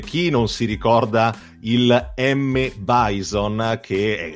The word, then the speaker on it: M. Bison: ai giorni nostri, perché alla fine per noi M. Bison, che molti pronunciavano, almeno molti amici che conoscevo pronunciavano Mr. Bison, ai tempi è il boss praticamente finale, quindi